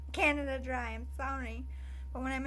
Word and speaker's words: Canada Dry: anyway Canadian or Canada I say Canadia dry so I always up and I make it my own thing and I try to say it right and everyone's like Canadia dry I'm like Canada Dry I'm sorry but when